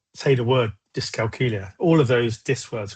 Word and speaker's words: dyscalculia: So a really good way to sort of try and remember how to say it is it rhymes with Julia, dyscalculia.